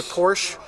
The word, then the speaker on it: Porsche: please friends say Porsche in the US but porsh isn't right it's Porsche that's how you say it another car brand we